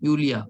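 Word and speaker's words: Yulia: सो जो opposition leader थी उस टाइम पे, एक लेडी थी यूलिया, ठीक है, यूलिया, वाई इसमें जो है साइलेंट है, यूलिया टाइमोशेंको, ठीक है, टाइमोशेंको, यूलिया टाइमोशेंको, इसको जेल से छोड़ दिया।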